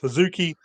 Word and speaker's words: HZK: christens her HZ K which is still pronounced huki but for the case of the written version It's hzk which does become kind of